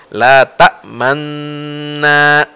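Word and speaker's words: لا تأمنّا: Nah, jadi tasdid yang pertama itu kita mulutnya ke depan. Seperti kita baca dhammah, ta'manu. Lalu na. Nah, jadi bacanya itulah ismam, la ta'manna ala Yusuf.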